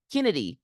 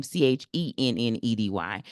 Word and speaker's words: Chennedy: Chicago Skies, Miss Carter, Kennedy Carter, excuse me. It's because the way it's spelled, CH. She spells her name Chennedy.